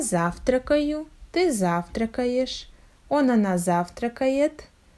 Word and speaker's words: завтракаю: You see, in this verb we have the stress on the first syllable, and all next syllables must be pronounced without a stop, without a stress, and without proper clear pronunciation of vowels.